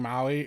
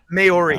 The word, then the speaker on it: Maori: What's funny is that somebody called her out about Cliff Curtis and him being Maui or however you pronounce it. Maori.